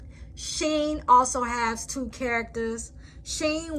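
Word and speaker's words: שין: Sheen, when the dot is over the left side, is pronounced like an S, as in so. Sheen, with the dot on the right side, it makes a sh sound, as in show.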